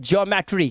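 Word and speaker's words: geometry: इओ से पढ़ते हैं इ ओ को इओ से पढ़ते हैं अब यहां पे देखो इओ लिखा है इसे पढ़ते हैं ज्योमेट्री क्या पढ़ते हैं ज्योमेट्री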